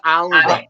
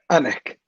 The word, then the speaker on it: Alnwick: I thought it was Alnwick. Oh, Annick. Right.